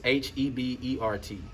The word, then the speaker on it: Hebert: it's very easy so the h is silent and the t is silent and then the e makes an a and then that's the